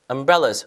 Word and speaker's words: umbrella: and people are holding umbrellas. 우산 발음해 볼까요? umbrella 강세 여기 주시고 umbrellas 가시면 되겠죠.